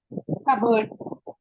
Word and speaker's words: cupboard: Cupboard. Cupboard, very good. Okay, അധിക ആൾക്കാരും നമ്മൾ പറയാ cupboard എന്നാണ്. It is not cupboard, it is cupboard.